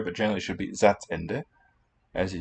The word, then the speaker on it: Satzende: We could contrast it there, but generally it should be Satzende.